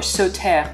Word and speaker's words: Sauternes: we'll be talking about sauter today or sote if you want to give that a french twist to the pronunciation now southern is not